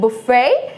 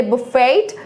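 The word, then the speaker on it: buffet: बुफे, इस word के एंड में टी होता है, बट इसे हमें साउंड या वॉइस में नहीं लाना होता है. Like it will be silent, like बुफे. वी आर not going to से बुफेट.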